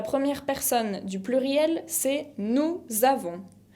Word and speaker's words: nous avons: La première personne du pluriel, c'est nous avons. Nous avons. No pronuncio la S final de avons, pero lo que hago es la liaison entre le pronom et le verbe.